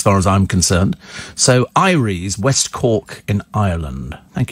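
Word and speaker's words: Eyeries: listen so it's it's pronounced how is it pronounced Ires says Michael Ires there you go I live and learn every day every day is an education as far as I'm concerned so Ires West cork in Ireland thank you very much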